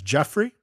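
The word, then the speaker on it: Giuffre: Uh there's also Virginia um how to pronounce her last name, Jeff Guffrey. Jeff Jrey Jeffrey Jeff. Uh I'm pretty sure it's Jeffrey.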